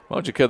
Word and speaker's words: Mojica: oh that's joining uh how do you say joy's last name oh joey mojica is it mojica yes sir i guess it is mojica the senior who has